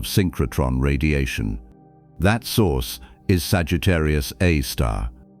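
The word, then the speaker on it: Sagittarius A*: Astronomers write it as scur A star and they pronounce it Sagittarius A star not Sagittarius A asterisk though the symbol looks like one.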